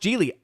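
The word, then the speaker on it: Gigli: about that movie that when I saw the movie was spelled with a G-I-G, I thought, what? There's a silent G in the middle of all that?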